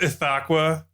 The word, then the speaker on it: Ithaqua: It's pronounced Ithaqua.